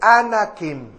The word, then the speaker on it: Anakim: de los hijos de anak y de ahí anakim anakim a n a k i m posteriormente